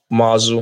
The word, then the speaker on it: Muazu: someone from your clan it's mu a z look at the spelling in the chat muu muazu Mohammad muazu now the efforts to